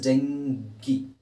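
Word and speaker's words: dengue: GUE ಇದೆ ಅನ್ನೋ ಕಾರಣಕ್ಕೋಸ್ಕರ ಅದನ್ನು ಯು ಅಂತ ಮಾಡಲಿಕ್ಕಾಗಲ್ಲ. ಇಟ್ ಈಸ್ ಡೆಂಗಿ.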